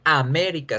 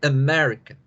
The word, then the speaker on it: America: Fíjense bien que las dos vocales A no se pronuncian A, sino que se pronuncian con este símbolo raro, con este símbolo que es como una E al revés.